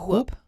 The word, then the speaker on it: Whoop: No, it's whoop.